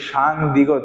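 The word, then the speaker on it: 쌍디귿: উচ্চারণ করব সাং দিগত তাহলে সিঙ্গেল দিগতে উচ্চারণ হবে কিসের মত দর মতো এবং যখন আমরা দুইটা দ্বিগত একত্রে লিখবো তখন এর উচ্চারণ হবে কি ভিন্ন তখন এটাকে আমরা কি বলবো সাং দিয়েগত তাহলে সাংগতে কি হবে ত হবে কি হবে সাং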